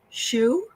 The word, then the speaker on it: Hsu: Is it pronounced Shu? Yes. It is. I got it right.